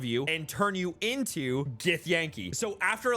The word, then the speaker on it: Githyanki: Well, what about Githyanki?